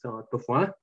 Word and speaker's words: Toffin: I learned that it's not Toffin, it's Tofin, Dr. Tofin.